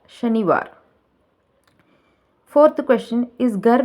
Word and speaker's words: शनिवार: Pronounce the word correctly. शनिवार. குழந்தைங்க வாசிக்கும் போது எப்படி சொல்லுவாங்கன்னா சனிவார்னு சொல்லுவாங்க. சொல்லிக் கொடுங்க. शनिवार.